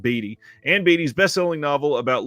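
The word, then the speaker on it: Beattie: uh bestselling novel and I think that's actually pronounced batty and Batty's best-selling novel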